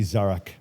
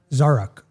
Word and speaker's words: Zarak: of my life okay my name is actually zarak and how I help people pronounce it is Zara with a K on the end zarak zarak yeah there you